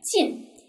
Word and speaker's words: 进: 下一个，进，这个进是一个什么呀？前鼻韵母发音，进，进啊，进。